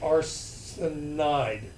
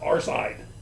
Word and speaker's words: arsenide: But arsenic becomes arsenide. It's not arside. So there are some weird conventions, like iodine is not iide, it is iodide for its ending.